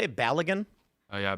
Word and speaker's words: Balogun: Balogun? Oh yeah, Balogun.